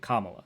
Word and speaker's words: Kamala: uh I got to say her name correctly Kamala that's it uh the reason say it wrong